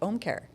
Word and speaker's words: Ōmcare: See, you said it right, Ōmcare.